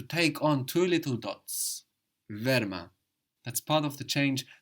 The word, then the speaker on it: wärmer: To say warmer, we say wärmer. Wärme. This is because adding the ER very often will add an umlaut, will add two dots.